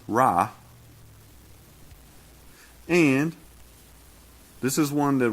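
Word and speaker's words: רע: Well, it's Hebrew 74:51, and it's pronounced Ra.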